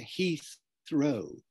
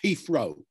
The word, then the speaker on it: Heathrow: It's going to Heathrow, Heathrow. Awful lot of people in England can't pronounce that. And Cockneys certainly wouldn't. Cockneys would say Heathrow, Heath, Heath, with an F instead of the TH, right?